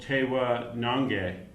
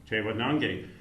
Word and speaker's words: Tewa Nangeh: Jason Garcia, who have co-curated a show called Tewa Nangeh. Is that pronounced correctly? Correct. Tewa Nangeh, which translates from the Tewa language as Tewa Country.